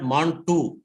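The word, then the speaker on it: Mantoux: that yeah yeah yeah it is called mont2 x is silent that's okay no problem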